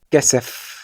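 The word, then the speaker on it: כסף: Fíjate que en palabras como anaf, que significa rama, af, que significa nariz, kesef, que significa dinero, y sof, que significa final, la P sofit se pronuncia como una F.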